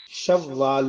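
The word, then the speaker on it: شوّال: شعبان المعظم، رمضان المبارک، شوال المکرم، یہاں واو پہ شد ہے، شوال کہتے ہیں اونٹنی کا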